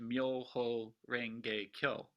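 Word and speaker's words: 妙法蓮華経: And in Japan, it's pronounced Myoho Renge Kyo.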